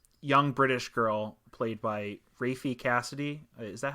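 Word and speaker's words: Raffey Cassidy: uh this um young British girl played by rafy Cassidy is that how you say her name yeah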